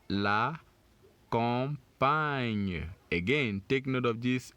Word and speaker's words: campagne: So we have the first syllables here for camp. That's a C-A-M. And then the second syllables takes it from the P-A ñ. You can see the G-N there, and remember we said it's pronounced ñ. So we say pagne for this second syllables. Pagne. Can you say it? Pagne. Which gives us campagne.